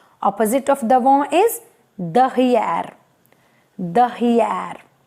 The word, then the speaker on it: derrière: So next is R again, and the last letter, that is A, it is silent. Again I repeat, D, E, R, R, E. This sorry, I is E and the sound is E O again, and A, accent grave, then R, then A. A is silent, which is coming at the end. So the whole pronunciation is derrière, right?